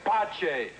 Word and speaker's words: Pace: In inglés. En italiano mi nombre se pronuncia Pace.